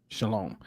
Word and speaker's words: shalom: deal with the base word um and here Shalom this is how you say shalom which means